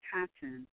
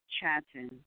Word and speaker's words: Chattan: Whatever the origin of the clan Chattan or Chattan, for the ch receives a guttural pronunciation, it is indubitably ancient,